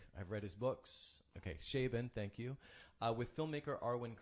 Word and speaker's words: Chabon: Chabon. Okay, there we go. I've heard him speak. I've read his books. Okay, Chabon, thank you.